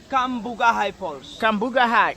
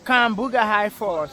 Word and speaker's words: Cambugahay Falls: How do you pronounce the name of the waterfall again? Cambugahay Falls. Cambugahay Falls.